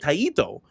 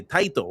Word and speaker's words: Taito: So Jason says, "The Japanese version is taito." Like taito, but you say it like ta. So I said it taito. And then he's like, "No, no, no. You gota say titto." Like title, like just fast, right?